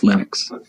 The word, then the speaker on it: Linux: pronounce my name but linux is always linux he developed a kernel